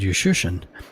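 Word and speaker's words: Juszczyszyn: The first time I asked him about that, he says, and actually I spelled it phonetically, and I just put a U and shun. And since then, that's how I pronounce it.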